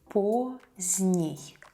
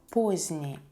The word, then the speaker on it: поздний: Поздний. Поздний, adjective. Поздно, поздно, adverb. Late. We don't pronounce the letter D here.